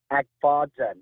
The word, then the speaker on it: Agfayan: Is it pronounced Agfayan or is it Agfadzen? Agfadzen. That's my understanding.